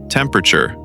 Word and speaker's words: temperature: And the word temperature. Temperature. Temper. The stress is on temp.